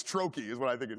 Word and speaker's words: trochee: I ask because I don't know how to pronounce it. So I'm just gonna. I think it's trochee is what I think it is.